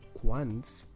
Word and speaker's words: quants: in that group so in Catalan you don't say quant you say once or cuantas you transform transform it into plural and you have to also change it depending on the gender so for example in the first sentence fields is a masculine words so you use the masculine form of quants which is once once